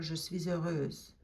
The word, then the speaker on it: je suis heureuse: Make sure you do the liaison, because heureuse starts with a vowel sound, and suis ends in a silent S that you normally don't pronounce. But in this case, you lace it together and it sounds like this, je suis heureuse.